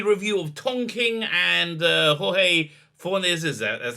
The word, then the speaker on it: Jorge Fornes: So this is a review of Tom King and Jorge Fornes, that's how you pronounce his name, Rorschach.